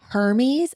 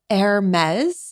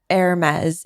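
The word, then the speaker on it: Hermès: He always says Hermes, I think is how he says it. And it's Hermes is the pronunciation there. The French, I can't even pronounce pronunciation. Anyway, Hermes is the correct way to say that.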